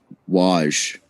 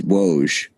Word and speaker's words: Woj: listener to be fair i also pronounce pronounce uh wash do you know i that up too it's woes do you know how